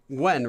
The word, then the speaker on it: Nguyen: I think it's pronounced Gwen, right? Something like that. I know it's not Nguyen.